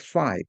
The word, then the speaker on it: phi: It's pronounced phi, P-H-I.